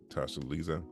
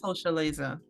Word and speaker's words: Tosha Leza: Tasha Lisa, is that how you say it? Oh, that's Tosha Leza.